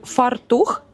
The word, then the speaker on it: фартух: Е, наголос у слові фартух чи фартух? Фартух. Правильно.